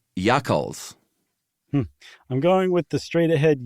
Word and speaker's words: Yakhchāls: right the first time, they call their refrigerators Yakhchāls, which is how I would say it if I were in Iran.